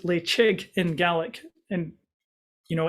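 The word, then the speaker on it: Ledaig: um off the coast of scotland and it's pronounced lay chig in gaelic and you know in regular english we'll call it ladaig but this is a very very lovely whiskey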